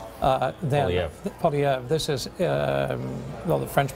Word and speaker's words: Poilievre: And if you see a certain cabinet minister go down by the name of Pierre Poilievre, Poilievre, this is, the French pronunciation is that, but whatever.